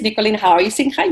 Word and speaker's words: Nicoline Huizinga: You really pronounced that well. So many people I did not really say it like how you just did. Oh my god. Yeah, well, it's a Dutch way. It's the Dutch way.